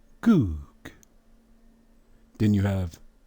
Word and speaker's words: Gog: But look at the script under it. That is the ancient Hebrew script. The letter that's in the middle of the 2 G's is a Wa. How is it pronounced? Ooh. So it would be Goog.